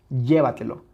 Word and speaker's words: llévatelo: que está aquí llévatelo Dónde tiene su sílaba tónica la palabra llévatelo llévatelo claramente está aquí si le quitamos esa